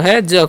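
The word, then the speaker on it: his: एच आई एस है तो एच का उच्चारण ह करेंगे आई का उच्चारण हरष और एस का उच्चारण जो है ज कर देंगे तो हो गया हिज ठीक है तो हिज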